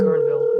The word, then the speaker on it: Guerneville: Guerneville is in California?